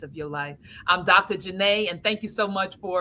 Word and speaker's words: Janae: Janet but it's really Janae, right? That's how. Yes, yes. It just I'm only doesn't. saying Dr. Janet because of the fact that that's how it's spelled, but her That's name right. is Dr. Janae, just so everyone knows.